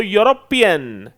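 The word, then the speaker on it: European: आप देख सकते हैं अगर ये ई से शुरू हो गया यह वर्ड जो कि एक वोवेल लेटर है लेकिन साउंड जब देखते हैं तो यूरोपियन यूरोपियन यूरोपियन और आपको पता होना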